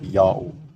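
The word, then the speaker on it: Jahoh: Y sound in Latin, and the H is silent if not the first letter of a word. Therefore, J-A-H-O-H is pronounced Yao, while the other one,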